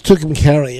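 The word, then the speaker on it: Tucumcari: carry then I'll never more roll so that's tukum Cary and I don't think that there was a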